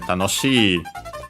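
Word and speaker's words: 楽しい: Is accented, so yeah, tanoshi, low, high, high, and low. So the accent is on the shi, on the second to last syllable, well, second to last mora, to be precise, although technically you might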